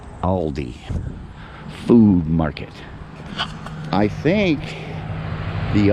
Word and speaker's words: Aldi: Is it Aldi's or Aldi? I think Aldi is how you're supposed to pronounce it, but everybody around here calls it Aldi's.